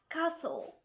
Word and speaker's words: castle: sound second rule when we have a word ends with s t l e t here is silent had four letters s t l e and a t is silent an example castle whistle hustle third rule when we